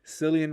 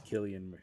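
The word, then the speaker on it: Cillian: for his performance and I think you said silly and Murphy and it's killer I think I do believe it's Killian I do believe that it's Killian Murphy okay Matt usually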